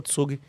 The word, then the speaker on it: Zug: Não, mas voltando, tem tem, por exemplo, tem um tem um cantão na Suíça que se chama Tsug, eh, se escreve Zug, tem tudo isso no livro.